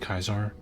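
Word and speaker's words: Caesar: with the fact that it's it's supposed to be pronounced kaiser according to him the name like ancient roman or whatever so he he puts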